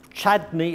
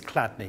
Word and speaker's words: Chladni: this is clad plate chadney or clad is spelled c h l a d n i and I think it's cadney well if I put